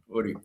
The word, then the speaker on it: Uri: Uri. All right, perfect. Thank you for correcting the pronunciation for me there.